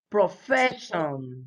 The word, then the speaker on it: profession: The stress, la mayor fuerza de voz, the stress is always on the syllable before them.